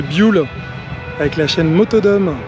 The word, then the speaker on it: Buell: Jul j'ai appris que ça se prononcer bule avec la chaîne moto